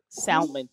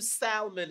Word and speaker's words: salmon: when they saw that L and they said salmon, and they're like, okay, there's an L there.